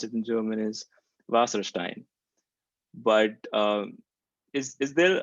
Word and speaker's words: Wasserstein: to sierra so i my instincts tell me to pronounce this in german so how you would pronounce it in german is vasserstein but uh is is